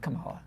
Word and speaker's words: Kamala: right and I think I said it right Kamala yeah now if you believe she's going to win is now the time Kamala not Kamala I said Kamala oh Kamala I said Kamala just now Kamala Kamala yeah if Harris is going to win